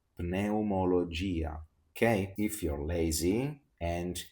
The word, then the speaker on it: pneumologia: When we have P plus N, we always have to pronounce the letter P.